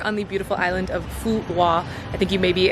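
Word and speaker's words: Phú Quốc: In fact, the name of the island, a lot of English speakers pronounce the island Phu Quoc because that is kind of how it's spelled from an English-speaking mindset, Q-U-O-C, we would say Quoc or something along those lines. But I did speak to a few Vietnamese people who taught me that the correct pronunciation is something along the lines of Phu Quoc, so that's what I've been trying to say.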